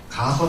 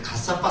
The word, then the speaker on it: 가섭: 도시인데 여기에는 당시에 가장 그 존경받고 그 다음에 그 도가 높다고 사는 가섭 삼형제 우리가 여기 이제 가사파 삼형제라고 해요. 예, 가사파는 저 그 인도식 발음이고 우리는 저 가섭이라고 하는 말로다가 이렇게 하는데 이 가섭 삼형제가 1000명의 그